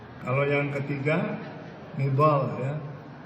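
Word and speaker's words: نضال: n kalau yang ketiga nidal ya E tapi dengan ejaan Indonesia jadi nizal sebnya nidal nidal tu perjuangan tapi dengan lidah Indonesia nidal jadi nizal jadi Muhammad Muhammad mizal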